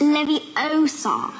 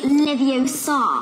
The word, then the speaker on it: Leviosa: someone's eye out besides you're saying it wrong it's leviosa not leviosa oh